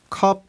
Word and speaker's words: COP: 컵입니다 아 카음 coop네 Cop Cop 맞아요이 영어권에서는 카이라고 읽기도 하고 컵이라고 읽기도 하고 Cop 고도 읽는데 CNN 뉴스 보면은 컵 컵 이러고 많이 합니다 CNN 같은 경우에는 그리고